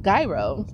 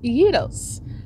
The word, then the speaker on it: gyro: that's actually how you pronounce gyro it's not pronounced gyro it is pronounced Yos so it is called yo ver uh oops